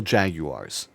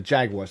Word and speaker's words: Jaguars: talk about the Jacksonville Jaguars God damn it why did I say it like Winnie the Pooh the Jaguars not Jaguars uh I predicted them